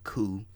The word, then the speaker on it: Coup: we're doing it on the coup the p is silent but uh the coup